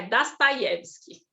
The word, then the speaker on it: Dostoiévski: Pensar do Dostoiévski, tem dois Os na palavra ali e o IE. IE é a sílaba tônica. Então, quando a sílaba tônica está presente e não é o, tudo vira A. Então, é Dostoiévski.